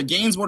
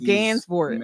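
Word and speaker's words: Gansevoort: I butchered that street now I got my either gain board or Gans boort you know these these uh yeah it's it's Gans boort okay there you go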